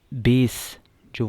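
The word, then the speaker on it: bases: इसी तरह बेस जो वर्ड होता है हमारे पास, बेस, उसका क्या होता है, उसकी भी प्रोनाउंसिएशन जो है वो किस बेस पे ये काम किया है, ठीक है।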